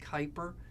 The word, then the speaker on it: Kuiper: I know it looks like Cooper but it's pronounced Kuiper so in the Kuiper belt you're going to